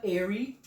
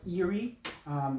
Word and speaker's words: eerie: It's a dark, mysterious scent, kind of airy, or eerie. Jamaican, that's the airy. The Jamaican E's and whatever, and certain letters we don't pronounce right. Eerie.